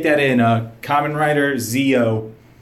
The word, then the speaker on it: Zi-O: yeah just take that in a Kamen Rider Zeo not zou Zeo you know the old-school Conrad this clown